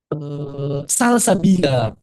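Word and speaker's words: سلسبيلا: Jadi Imam Ibnu Jazari sedang ngebahas ayat salsabila. Jadi ada sebagian orang yang bilang salsabila ini ya, harus bacanya nabernya di salnya. Salsabila. Jangan di sabnya.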